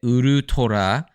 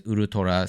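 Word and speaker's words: ウルトラ: and tiger together, because the last half of ultra in a Japanese accent contains the word for tiger. So you get Urutora, and then Tora is just tiger, and ultra is Urutora.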